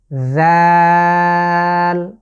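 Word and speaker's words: ذ: জাল, একটু খেয়াল করুন, লেটারটি হচ্ছে পাতলা বা সফট করে আমরা উচ্চারণ করতে হবে। আমি জিভের আগাটাকে সামনের যে দাঁত আছে তার আগার সাথে লাগিয়ে বা সামনের অংশটুকু, আবারও খেয়াল করুন, জাল। জাল, মোট 3 আলিফ লং করে আমরা পড়ব।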